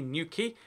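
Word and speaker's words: Newquay: But no, this is actually New Quay. The reason for that is because it uses the key. Q-U-A-Y is how we say key in the UK, like a boat key.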